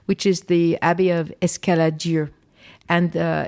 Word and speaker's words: Escaladieu: is the Abbey of Escaladieu. And it's also Cistercian. And they were associated. Escaladieu? Escaladieu, yeah. Can you spell that one? Escaladieu, Escalad, après Dieu. Dieu, D-I-E-U. Yeah.